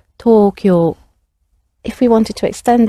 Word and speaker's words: Tokyo: to tokyo tokyo the tokyo although we anglicize it say it in an english way it has two long sounds to it so talk your if we wanted to